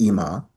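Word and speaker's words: אמא: Instead of mother, we say imma, pronounce, and I'll show you how to pronounce it. Ima.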